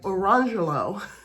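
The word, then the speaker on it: Orangejello: is spelled orange jello, but they pronounced it lamangelo and orangelo.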